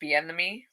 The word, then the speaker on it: Bieniemy: I actually didn't realize that, forgive me if I say his name wrong, Eric Bieniemy, Eric, whoever you say his second name.